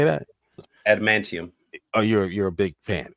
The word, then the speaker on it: Adamantium: We're taking his tantamaniums. What was Adamantium. Tantamanium. How do you say that? Adamantium.